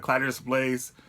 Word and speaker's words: Caladrius Blaze: and today we're gonna do clitoris lace a clatters place that's how you pronounce it bad call at giris place whatever